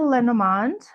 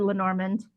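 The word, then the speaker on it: Lenormand: So that was the Lenomand. I'm saying it properly. The last video I just said Lenorand. So now I'm like saying it right.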